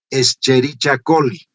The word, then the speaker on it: Escherichia coli: siguientes col o sea no se hagan problema en la pronunciación por ejemplo ustedes van a escuchar el término escherichia colli cómo lo van a escuchar 'escherichia coli' inicialmente escherichia porque proviene de idiomas de lenguas muertas como se le el